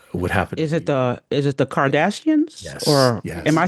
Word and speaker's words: Kardashian: Hey, every time I say her name, I want to say Kim Kardashian, which is not correct. It's Kardashian.